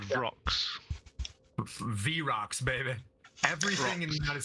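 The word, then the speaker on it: Vrock: V-Rocks, baby.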